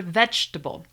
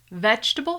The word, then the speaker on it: vegetable: The word vegetable. Vegetable has three syllables. Vegetable, vegetable.